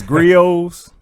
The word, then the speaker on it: Griot: It's your boy from Griot's Word. Please make sure that you follow me at L_Griot88. That's EL_GRIOT. The T is silent, 88.